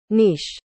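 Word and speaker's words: niche: may magtatanong po yung nich ko Oops ear lovs muli pala yung pagpronounce ko nung word na ni c e Akala ko nich ang dapang pronounce pala ay ito nish nish nish Ayun Ganun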